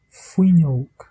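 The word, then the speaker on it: fuinneog: Et quand le F est une consonne large, je prononce le F normalement, comme dans le mot fuignok, fuignok, qui signifie fenêtre, fuignok.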